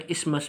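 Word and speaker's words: isthmus: में Britain English में इमस भी कहते हैं टी एच को साइलेंट कर लेते हैं दैट बाइंड्स टूगेदर और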